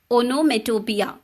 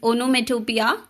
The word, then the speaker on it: onomatopoeia: It is pronounced as onomatopoeia. Okay, it's onomatopoeia.